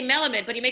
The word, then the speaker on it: Melamed: do i pronounce it it's melamed it is an element it is melamed i mean properly it's malamad as you said yes with sephardics like my family said they had they